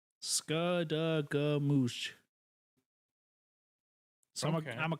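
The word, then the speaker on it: Skadegamutc: It is pronounced Skadagoomoosh. Skadagoomoosh.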